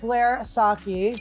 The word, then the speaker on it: Blair Socci: We have the lovely Blair Socci here.